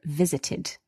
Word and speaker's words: visited: The ed here is pronounced id.